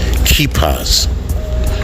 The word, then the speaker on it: kippah: They took off the yarmulkes and the prayer shawls and donned their culture, ethnic culture, kippahs, which some may refer to as kufis, but in Hebrew it's pronounced kippah.